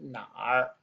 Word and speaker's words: 哪儿: We're going to learn the word nǎr. Nǎr means where. Okay. It's important that we put that r sound on the end because this on its own pronounced nǎ.